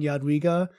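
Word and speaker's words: Jadwiga: like two second video of just you saying yadwiga and somehow get it on the Pathfinder Wiki is like the official pronunciation video Yad WEA Yad we spoken by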